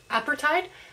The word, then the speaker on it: apartheid: During Apartheid, I hope I'm saying that right.